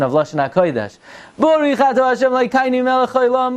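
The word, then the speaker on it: ברוך: Not Baruch. There is no word in Lashon HaKodesh Baruch. It's Baruch, Atah, Adoshem, Elokeinu is a Milel.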